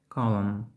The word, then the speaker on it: column: Літера N не вимовляється у сполученні M, N в межах одного складу. Limb, autumn, column.